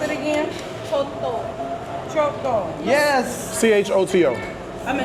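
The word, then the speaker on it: coto: Yeah, so it's spelled C-O-T-O, but it's pronounced C-H-O-T-O. In America, we just say koto. But if you say this word, you have to put the H on it like choto.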